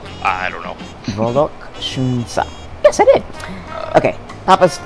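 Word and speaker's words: Vollok Shoonsa: Papa's palace is called Volokshunsa. Did I say it right? I don't know. Volokshunsa.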